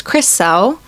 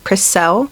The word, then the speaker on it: Cressel: My name is Cressel, which is not a very common name. The way you pronounce it is Chris and then L. Cressel.